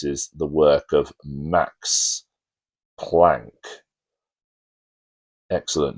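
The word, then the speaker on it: Planck: He solved the problem by using the work of Max Plank which I've heard his name pronounced Max Plunk but I just can't bring myself to say that. Max Plon Max Plank.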